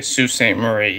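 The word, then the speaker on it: Sault Ste. Marie: Sudbury to Salt St Marie okay s is pronounced Sue okay Sue St Marie yeah well tonight I'm going to Dairy Queen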